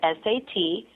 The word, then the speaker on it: Sat: So it's spelled S-A-T, pronounced Sat, and then Nam, N-A-M, meditation.